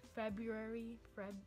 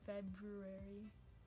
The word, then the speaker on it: February: February can be pronounced two ways. With an R, February, February, or February. Most people leave out the first R in February.